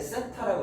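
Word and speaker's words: θ: 그래서 기호를 보통 이렇게 번데기 모양처럼 쓰는데 읽을 때는 세타라고 읽어요.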